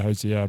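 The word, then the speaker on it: Hozier: Hosea? Oh yeah, Hosea, Blood in the Snow.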